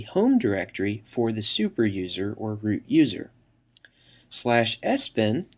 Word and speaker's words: usr: by the system administrator slash usr often pronounced slash user which contains software that